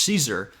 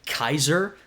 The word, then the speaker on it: Caesar: we say in English Caesar. It's actually pronounced more like Kaiser.